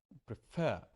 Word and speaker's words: prefer: you know begin or prefer prefer I'm stressing the second syll prefer so what should